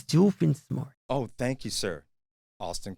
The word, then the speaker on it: Doofenshmirtz: It's Doofenshmirtz. Oh, thank you, sir. Austin corrected my pronunciation.